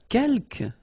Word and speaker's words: quelques: Quelques, you don't pronounce the final S here.